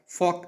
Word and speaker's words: folk: FOLK উচ্চারণটা ফক, যার অর্থ লোক বা প্রচলিত।